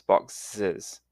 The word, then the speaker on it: boxes: Now, the pronunciation, the plural is pronounced with an extra syllable, so the box becomes boxes, and bus becomes buses, and watch becomes watches.